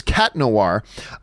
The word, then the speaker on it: Chat Noir: oh oh okay sorry by the way the H in Chat Noir is silent so it's okay so it's cat noir just so you know